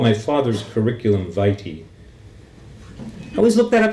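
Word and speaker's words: vitae: called my father's curriculum viti i always look that up in the dictionary it's pronounced fighty according to my dictionary and sometimes i read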